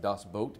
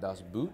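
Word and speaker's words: Das Boot: films of all time is Dos boat um pronounced dos boat by the way not dos boot yeah I found that out my first day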